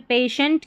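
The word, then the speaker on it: patient: अभी इससे पहले ये आ गया था कि टी आई ई एन टी को शेंट पढ़ेंगे, ये स्पेलिंग अलग है, ठीक है। शेंट पढ़ेंगे जिसमें पेशेंट की और यहाँ क्वेश्चंट, शेंट, ये कुछ मिनिमम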